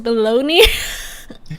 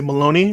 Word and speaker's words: Malone: I wouldn't want to say Maloney. That sounds like shit. But abalone. This is what you do. You make an email. You say Post Malone.